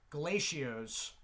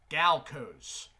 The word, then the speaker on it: Galco's: I used to pronounce this Galacio's, but now recently I have realized there is no I between the L and C. So I'm going to say Galco's.